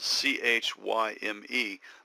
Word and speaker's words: chyme: It's spelled C-H-Y-M-E, but it's pronounced chyme, like time, but with a K sound at the beginning.